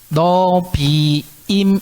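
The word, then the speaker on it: Nevi'im: 갑자기 걸릴까요 즐기십시오 그러고 이거는 너비 이미 라고 읽어요 노 비 디 딤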